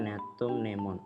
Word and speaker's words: Gnetum gnemon: teken topsida ini contohnya gnetum gnemon neptunemon cara bacanya neptunemon ini biasanya disebut pohon